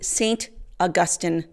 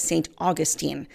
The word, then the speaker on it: St. Augustine: a half century to St. Augustine, Florida. Well, they actually pronounce the name of the city as St. Augustine. Catholics, of course, pronounce the name of the saint as St. Augustine.